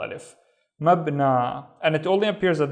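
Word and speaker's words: مبنى: So the first syllable would be mab. The second syllable is na. So this letter that looks like a ya with no dots, we just treat it as a regular long vowel alif.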